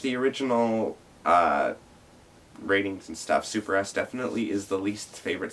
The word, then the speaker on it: SuperS: And to me, that's why Super S didn't, and it is pronounced Super S to people out there. It's not Super, it's Supers.